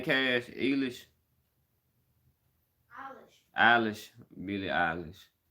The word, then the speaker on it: Eilish: Eilish? Eilish. Billie Eilish. Kind of like eyelash, but okay.